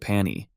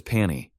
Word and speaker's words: Pani: Jiha, true to his terrible naming habits, calls it Pani, simply because it rhymes with pony.